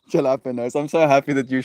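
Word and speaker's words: jalapeños: And they go, Ricky, the J is silent. It's jalapenos. And he's like, "The fuck are you talking about?"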